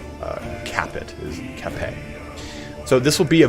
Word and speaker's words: Capet: That's how you pronounce Capet, is Capet.